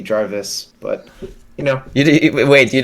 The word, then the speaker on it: Jarvis: Yeah, most Americans would say Jarvis, and I think it actually originally is like a Scandinavian name, but I think it also still would be Jarvis.